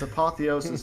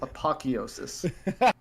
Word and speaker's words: apotheosis: to pronounce quantum apotheosis it's apotheosis not apocheosis we should watch that